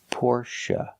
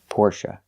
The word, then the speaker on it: Porsche: always Porsche or Porsche now the last syllable is pronounced uh like cup and up not a like say and pay but uh like cup and up Porche it's a relaxed sound the syllable is not stressed the stress is on the first syllable pora Porsche example I